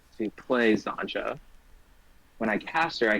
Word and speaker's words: Xantcha: Zancha. It's like matcha, but Zancha. It's a dumb fucking joke.